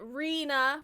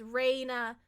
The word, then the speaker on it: Rena: Most people do pronounce it Rena, which is fine. I get it. It does look like an R-E, but it is Reina, like a sunshine bit of light or whatever.